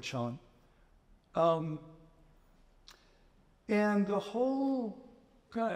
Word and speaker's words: Chan: and uh Chand Buddhism Chand is the original Chinese word for Zen um but it when I moved to Japan the Japanese pronounced that uh ideogram Zen so I'll use the word Sean um and the whole